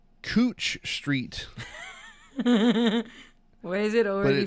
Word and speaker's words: Couch Street: We have a street here in Portland called Cooch Street. Why is it already funny? But it's spelled couch.